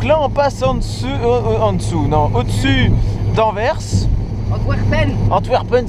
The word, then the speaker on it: Antwerpen: Antwerpen, si on veut bien le prononcer. Et encore, je pense que le W se prononce à la... à la germanique Antwerpen.